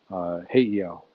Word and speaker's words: Heiau: Yeah, um, and that's over on the west side, Honolulu Heiau, Heiau. Let me pronounce it right.